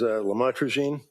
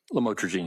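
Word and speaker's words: lamotrigine: about the u the lamel otherwise known as lamatraene. Did I pronounce that right? Lamotraine.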